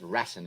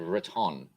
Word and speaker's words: Raton: Raiden was making fun of me because I call it Ratten instead of Raton.